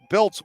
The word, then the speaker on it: Biltz: Again, I do apologize to Jenna Biltz and her family for mispronouncing the name all game. It's sitting right in front of me, B-I-L-T-Z, and I was seeing B-L-I-T-Z.